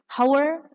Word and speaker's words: hour: Hour, di pronunciationnya hour. So the h is hidden, hanya jangan dibaca hour, kilometers per hour.